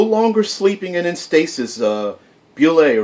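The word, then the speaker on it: Bulette: Robots, and there is a, I believe it's properly pronounced, Bullet, not a bullet. I always call them bullets. I don't know why. It looked like his bullet, spelled like bullet, but I believe it's Bullet.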